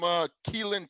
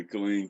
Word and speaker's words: Killeen: So Tobin's originally from Keelan, Texas, right? Or did I say it right? Keelan, Texas? Yeah, Killeen, Texas.